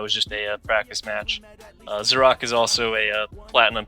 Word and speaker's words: Xerak: I've never actually heard it pronounced before, but I think it's pronounced Xerak. I always pronounce it Xerax, though. I don't know. In my head I always say Xerax, but I'm pretty sure it's Xerak. But yeah, it's a PvT